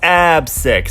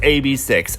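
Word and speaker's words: AB6IX: of you are thinking it's AB six because they got those chocolate six-pack ABS wink wink but nope it's a B 6 and I don't know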